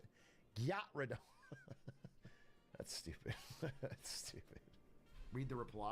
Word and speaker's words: Gyarados: I introduced my 6-year-old Gen Alpha nephew to Pokemon, and he pronounced Gyarados like Gyat. Gyarados. How would you even say it? Gyarados.